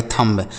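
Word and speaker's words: thumb: यहां पे बी लिखा है तो आप कहेंगे सर गलत लिखे हैं। ऐसा पढ़ेंगे थंब। थंब नहीं पढ़ा जाता है। अगर एम के साथ बी लिखा होता है ना बच्चों तो वह बी साइलेंट होता है।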